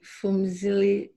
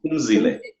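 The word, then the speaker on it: Phumzile: Hi, Fumzili. Did I pronounce it right? I think you went away. Hi. Oh, hi. Hi. It's actually the H is silent. You say the P. Oh, Pum? Oh. Pumzile.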